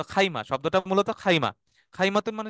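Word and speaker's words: خيمة: মানে লোগাতুল আম্মিয়াতে বলে খিমা শুনছেন না সবাই শব্দটা খিমা আপনারা শুনে খিমাতে থাকতেছি এই খিমা হচ্ছে বেসিক্যালি খাইমা এটার ক্লাসিক্যাল উচ্চারণ হচ্ছে খাইমা কিন্তু ওরা যখন পথ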